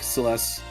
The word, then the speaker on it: Celes: I always like Celeste. I always say Celes, but Celeste, sure. You could listen. This was before voice acting. You could pronounce it however you want to pronounce it.